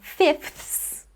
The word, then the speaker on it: fifths: Another example is the word fifths, fifths. Now, usually in fast speech, I wouldn't actually pronounce that middle TH sound. I would just go straight from the F to the S. So, instead of fifths, I would just say fifths.